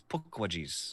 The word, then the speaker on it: Pukwudgies: Pukwudgies, I think is how you're supposed to say it. Pukwudgies. Squeeze me? What is the name? How do you spell it? Pukwudgies. Looks like Pukwudgies, but it's Pukwudgies.